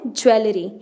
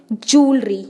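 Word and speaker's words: jewellery: ज्वेलरी। आपने भी सुना होगा इस शब्द को कि गहनों को औरतें ज्वेलरी बोलती हैं। ज्वेलरी इज़ रॉन्ग प्रोनाउंसिएशन, ये गलत प्रोनाउंसिएशन है। ज्वेलरी को हम क्या बोलते हैं? जूलरी।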